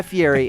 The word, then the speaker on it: Fieri: No one ever says it right, but yeah, it's pronounced Fieri.